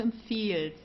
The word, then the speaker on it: empfiehlst: Okay, so du empfiehlst. Okay, we don't pronounce the H, don't forget about that.